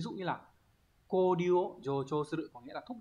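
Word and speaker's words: 助長: Chợ trường đọc là gì, jocho.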